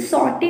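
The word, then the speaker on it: sauté: इन्हें भून दो ऐसे करके, तो आप बोलेंगे सॉटे द मिक्सचर या सॉटे the tomatoes and onion. सॉटे जो है उसकी स्पेलिंग हो जाएगी यहाँ SAUTE, सॉटे, सॉटे the mixture.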